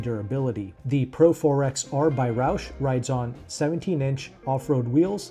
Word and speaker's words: Roush: Now, is it Roush? Is it Roo? Is it roucher? Do you have some other obtuse pronunciations for this word? Let me know in the comment section. I'm going to pronounce it as Roush because even the company themselves pronounce it Roush.